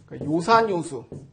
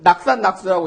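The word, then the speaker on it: 樂山樂水: 그때도 이거를 낙산낙수라고 읽지 않고 산을 즐기고 물을 즐기는단 말인가? 그래도 뭐 말은 될 것 같지만은 그렇게 읽지 않고 좋아하다는 의미일 때는 도금이 요로 바뀝니다.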